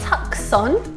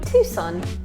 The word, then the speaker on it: Tucson: where Mum actually lived for a while not tuck son no but Tucson maybe you could give us a suggestion of